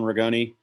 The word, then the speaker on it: Ragone: I'm Ragone. Some people sometimes pronounce it Ragone. It's okay with me either way.